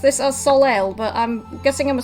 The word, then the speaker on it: Soleil: And Gavin's saying I've always pronounced this as Soleil, but I'm guessing I'm a smidge wrong. Soleil.